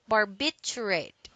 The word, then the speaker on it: barbiturate: barbiturate acid okay so don't forget this word contains four syllables and it says bar bit you rate barbiturate now the second word